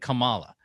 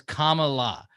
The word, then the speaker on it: Kamala: They said Kamala. So she's like, just say it like it's comma, like the letter comma and then add la. So it's Kamala.